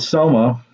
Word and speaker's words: soma: as we continue but talking about soma rhymes with trauma it's a body experience